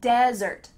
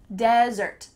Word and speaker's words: desert: But when we're talking about the sand, and cactuses and snakes, we say desert, desert. In fact, the emphasis is on the first part, desert.